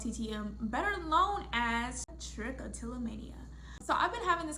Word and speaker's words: trichotillomania: So it kind of stems from, trichotillomania stems from, oh, I said it right.